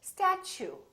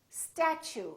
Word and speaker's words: statue: let me show you we don't say statu we say statue statue so the t u sound like chu so it almost sounds like chew i chew my food